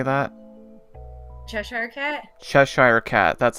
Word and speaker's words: Cheshire Cat: This one I'm not sure how to pronounce. Alice in Wonderland, how do I say that? Cheshire Cat? Cheshire Cat, that's how you say it.